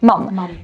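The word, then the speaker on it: Mumm: tamte szampany musują i właśnie jak to się wymawia mam i właśnie mam jest bardzo często sponsorem formuły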